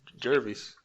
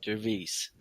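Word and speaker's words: Jervas: Como que é a pronúncia em inglês? Jervis. Né? Jervis.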